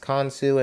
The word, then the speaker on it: Khonsu: It's pronounced Khonsu in mythology, but nevertheless, I was like, hold up, I'm making an African Egypt-based Pokemon region, so yeah.